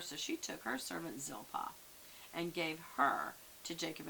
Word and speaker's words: Zilpah: another son out of gilpa zilpah sorry i said it wrong zilpah and she named him